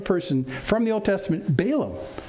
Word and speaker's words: Balaam: from the old testament balaam balaam or to say it properly as bill um but we're going to